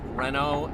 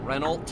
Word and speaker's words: Renault: I did get the notes that it is pronounced Renault and not Reynold they drive fast here speed limits 90 nothing